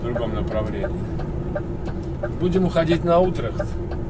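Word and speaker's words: Utrecht: Будем уходить на Утрехт. Наконец-то я правильно начал произносить. Что-то мне все время хотел сказать Ультрехт. От слова Ультрас.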